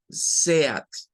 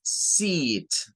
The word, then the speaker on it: seat: Nuestro español nos hacería creer que esto se pronunciaría como SEAT, pero es lo menos que va a sonar eso. Eh, no suena de esa manera. Es seat, seat, seat. Es un sonido largo, seat.